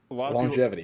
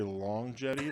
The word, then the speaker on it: longevity: Do you guys know that it's supposed to be pronounced longevity? Like a lot of longevity? People, a lot of people say longevity.